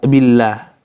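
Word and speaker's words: بالله: Nahwu, contoh, bismillah, billah, lafzul jalalah sebelumnya huruf yang berharokat kasroh, maka bacanya billah, bukan billah, tapi billah. Bismillah, bukan bismillah, ya, bismillah. Kenapa?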